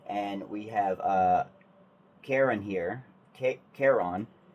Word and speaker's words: Charon: Charon. It's not Karen, it's Charon. It's spelled with a CH, which throws me off completely.